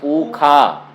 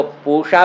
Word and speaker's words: पूषा: वास्तव में मूर्धन्य शकार का उच्चारण कुछ संप्रदायों में ख ऐसा करके किया जाता है। आप लोगों ने मंत्र सुना होगा अथवा कभी कभी पौराणिक पंडितों को सुना होगा। वो कैसा बोलते हैं? स्वस्ति न इंद्रो वृद्धश्रवाः स्वस्ति न पूखा। तो वो पूषा को पूखा बोलते हैं, तो उससे पाखंडी।